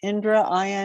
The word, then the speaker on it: Indra: Indra is the god of thunder and lightning, or thunder, right? God of, and so the Vajra is a thunderbolt. I'm going to put it in the chat. Indra, Indra, right, Jim?